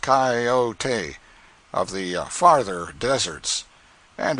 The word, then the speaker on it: coyote: rightly this latter was the regular coyote pronounced cayote of the farther deserts